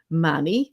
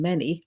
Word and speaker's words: many: But like if you mispronounced a word, or if you said Manny or Annie instead of any and many, I used to get a note about those.